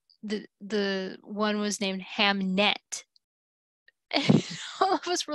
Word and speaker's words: Hamnet: the one was named hamnet all of us were like no you mean hamlet and that's why he wrote the play and she's like no no no no ham net with an n and for like no